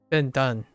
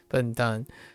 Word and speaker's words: 笨蛋: 笨蛋 Been done, which is idiot. Yep. 笨蛋.